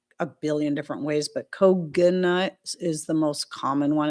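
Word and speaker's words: Koginut: Um some people pronounce it Koji nut or Kogi nut. Um I've heard it pronounced a billion different ways, but Koganut is the most common one. It sounds kind of like coconut.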